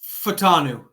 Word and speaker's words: Fautanu: Yeah, Fautanu.